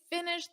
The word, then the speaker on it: finished: And notice that pronunciation on finish in the past simple, it's a soft T. Finished. Very soft.